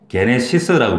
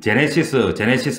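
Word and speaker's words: γένεσις: 게네시스라고 부르는 거예요. 게네시스. 영어 발음으로는 제네시스 뭐 이렇게 하는데 틀린 발음은 아닌데 정확한 발음은 게네시스.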